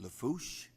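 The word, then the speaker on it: Lafourche: Randolph is the parish president, and of course, pronounced Lafouche.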